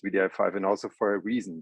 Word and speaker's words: wdi5: vdr5 is written wdi5 but spelled vdi5 and pronounced vdi5 and also for a reason there is no